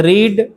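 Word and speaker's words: read: थोड़ा सा प्रोनाउंसिएशन में डिफरेंस होता है। उच्चारण करने में थोड़ा क्या होता है? अलग होता है। रीड रीड रेड नहीं इस तरह से हम लोग उसको पढ़ते हैं।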